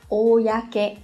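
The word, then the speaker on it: 公: Nhớ là không đọc là cô đâu nhá, không phải giống như trong cái trường hợp là kokyo đâu, mà đọc là oyake này.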